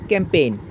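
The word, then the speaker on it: campaign: এ আই জি এন ক্যাম্পেইন ক্যাম্পেইনের মধ্যেও জির উচ্চারণটা কিন্তু সাইলেন্ট রয়েছে কেননা জি এন জি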